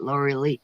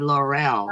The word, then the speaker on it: Laura Lee: That's how you say it, Laura Lee. I said Laurel. I wasn't sure how to say it.